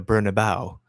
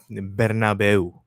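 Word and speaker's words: Bernabéu: It it's it's always funny to me that English people um pronounce it the Bernabau but in Spanish the correct pronunciation is Bernabu the Santiago Bernabu and Tiar Enri scored and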